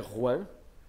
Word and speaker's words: João: O nome dele é Juan. João é como a gente escreve, mas é Juan a pronúncia.